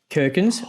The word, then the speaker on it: Kirkins: It's so we had a cracker last week, didn't we, with But Kirkins rhymes with gherkins.